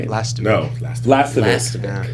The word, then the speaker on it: Lastovic: Lastovic. Yeah. Like, it's kind of like saying last of it.